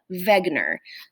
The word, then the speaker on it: Wegener: looks like w-e-g but it's actually pronounced ve wegener so say it with me alfred wegener alfred wegener um so